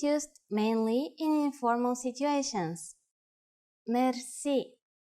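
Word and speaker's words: мерси: you will be amazed which word that is merci merci merci is a lone word from french but it is pronounced with the typical bulgarian heart are it is used mainly in informal situations merci how do you answer it's easy there are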